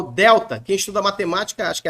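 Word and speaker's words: δέλτα: letra letra D então ele vai representar o nosso D como na palavra dedo tá dedo o delta gente não tem um som de dinheiro como na palavra dinheiro não tem esse som é o d esse D com a língua nos dentes mesmo D delta delta a língua nos dentes e não na palavra dinheiro é diferente o som no coin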